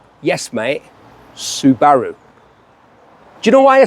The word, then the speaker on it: Subaru: this street level Legend the Subaru impressor WRX Subaru yes mate Subaru do you know why I say that because that's how you pronounce it you got a problem you got